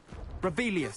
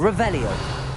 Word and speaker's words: Revelio: Revelius. Saying it wrong. Ugh, Revelia. Much better. Revelio.